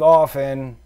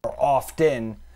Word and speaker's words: often: Save often, or often. Do you pronounce the T in often? I just say often.